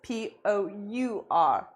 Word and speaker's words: pour: But remember, it's the same pronunciation as P-O-O-R. So Valeria, well done, you got it. But the spelling is P-O-U-R.